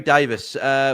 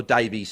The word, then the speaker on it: Davies: Jerry Davis. Which two, or Davies, sorry. Davis is what the English say for when it's spelled Davies. Jerry Davies.